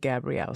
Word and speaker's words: Gabrielle: I bet it's Chef Jeff Bailey and his daughter, Gabrielle. Not Gabriel, but Gabrielle.